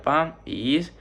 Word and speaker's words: país: Y por ejemplo, muchas personas podrían pensar que país se divide en una sola sílaba, pero realmente se divide en dos, que sería pa y is, porque como ya les decía antes sería un hiato.